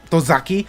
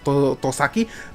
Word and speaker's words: Tosaki: The police officer, mispronounce his name, Tozaki, but his name is Tosaki.